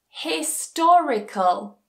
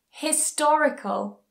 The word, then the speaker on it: historical: the syllable before that for example critical critical magical magical historical historical a longer one economical so again doesn't matter what's before it the stress still goes on the anti-penultimate syllable economical finally rule number eight